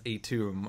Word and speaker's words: Atum: I did not realize his pronunciation was Atum until I listened to the Ennead episode of the Letters page.